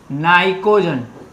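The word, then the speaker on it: pnictogen: Group 15 की बात करूं, उसका मुखिया है नाइट्रोजन, तो इसको नाइट्रोजन फैमिली भी बोलते हैं, और इसका दूसरा नाम है नाइकोजन, P साइलेंट है, नाइकोजन फैमिली।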